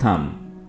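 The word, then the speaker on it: thumb: last में आता है थम यहां पर आपने बी को नहीं पढ़ना है और इसको पढ़ेंगे थम अंगूठा ओके नेक्स्ट वर्ड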